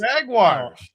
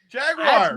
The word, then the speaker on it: Jaguars: You say it like it's J A G W I R S. It's not Wires.